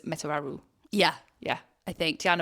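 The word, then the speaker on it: Metuarau: So this is how it is phonetically spelled out. Met-u-a-ra-u. So we thought it was Metararu.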